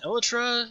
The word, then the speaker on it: Elytra: kind of need both an Elytra, which is the correct pronunciation, by the way. Elytra, it's not Elytra. And it is certainly not Elytra.